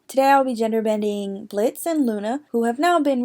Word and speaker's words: Blitza: Today I'll be gender bending Blitz and Loona, who have now been renamed Blitza, the A is silent, and Muune.